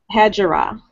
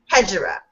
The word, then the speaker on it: Hegira: Okay, and how do you pronounce Hegira? Hejira. Hejira, okay, and how do you pronounce your character's name?